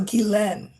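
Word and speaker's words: Ghislaine: And then the the last part is pronounced len like lend but without the d. So gilen.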